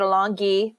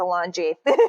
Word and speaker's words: Alongi: It is Sicilian. Everyone pronounces it Alongi. I hate that. It's not that. It's Alongi.